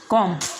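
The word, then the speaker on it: comb: Silent रहेगा। जैसे पहला वर्ड्स लिम, दूसरा वर्ड है कॉम, तीसरा वर्ड है टॉम और चौथा वर्ड है बॉम्ब, इसके बाद में थम, उसके बाद में क्लाइम।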